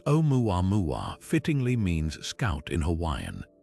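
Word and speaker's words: Oumuamua: Its name, pronounced omua mua, fittingly means scout in Hawaiian.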